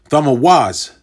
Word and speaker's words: Tammuz: So Tammuz, okay? Tammuz is Thamawaz, Tha-ma, and Awaz.